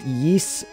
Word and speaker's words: Ys: tales of games I enjoy the geese it's pronounced yeess the ys series yeess i've been playing a bit of yeast so